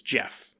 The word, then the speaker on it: Gef: start talking though and introduces itself as Jeff oh and I don't know it's spelt a GE F I don't know if